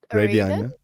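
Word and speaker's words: Radeon: But anyway, and your GPU, how do I pronounce Raidon? Radon.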